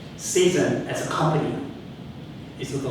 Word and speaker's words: ZEASN: at this incredible spots Jason as we call season I've got to learn pronounce it right as the Prof P just said season as a company is